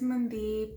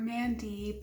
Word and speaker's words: Mandeep: My name is Mandeep (Punjabi pronunciation) or Mandeep (English pronunciation).